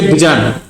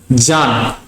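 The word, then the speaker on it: Bjarne: And you shouldn't say Bijan, John. B is silent.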